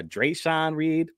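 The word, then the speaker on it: Dreasjon Reed: Do you remember Dre'Son Reed? Is that how you say it? Yeah, Dre'Son Reed.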